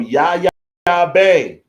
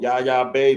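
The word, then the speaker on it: Yaya Bey: The song you heard before that is from Yaya Bay. A song called Raisins. That's from Yaya. And that's from her own YouTube channel. Yaya Bay. Bay is spelled B-E-Y. Yaya Bay. That's B-E-Y.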